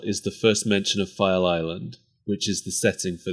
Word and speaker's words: File Island: I keep thinking that you're mispronouncing Fire Island no file Island so only slightly less